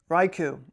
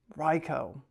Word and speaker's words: Raichu: pronunciation of the day I pronounced this wrong Raichu is what I would say Ryo raicho I always said Raichu Ryo man that's crazy raicho raicho embodies the speed